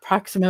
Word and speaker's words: Proximo: Proximo rhymes with domino.